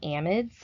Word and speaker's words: amide: flavoring our next carboxylic acid derivative are the amides and it's important to note that when you